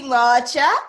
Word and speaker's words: Nwaocha: Yeah, it's Nwaocha. If you cannot pronounce it, is fine.